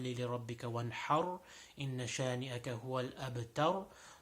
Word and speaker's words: الأبتر: كالكوثر فصل لربك وانحر إن شانئك هو الأبتر. So in all of them, the ra at the end is going to be pronounced with a full mouth. So again, كوثر فصل لربك وانحر إن شانئك هو الأبتر.